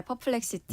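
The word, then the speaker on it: Perplexity: 앞에 잠깐 발음을 잘못해가지고 네. 수정하겠습니다. 그 인공지능 검색 기업은 퍼플렉시티라고 합니다. 네, 퍼플렉시티.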